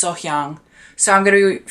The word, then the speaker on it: Sohyang: I think I'm starting to say her name right. I looked at the comments and I actually watched what people were saying about the pronunciation, so I think it's Sohyang.